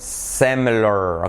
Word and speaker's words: similar: Similar. Okay. So the short I becomes an E.